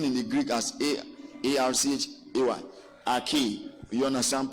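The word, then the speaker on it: ἀρχή: Arche. You understand? Pronounced Arche.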